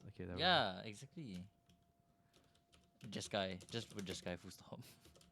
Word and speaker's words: Jeskai: oh, It's Jeskai. Jeskai. Wow. Jeskai Control? Do you see the name wrong or something?